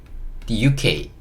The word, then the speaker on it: The UK: THE 이거는 이제 덜하고 읽는 건데 덜하고 읽는 단어인데 다음에 나오는 단어가 모음으로 시작하면 이걸 D라고 읽거든요. 그래서 D라고 읽고요. 그 다음에 이거는 U라고 읽어주시면 돼요. 이거는 K, The UK, The UK 이렇게 읽어주시면 됩니다.